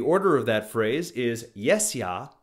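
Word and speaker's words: jes ja: easily remember the Order of that phrase is yes ya rhymes with Tesla As in the Tesla coil or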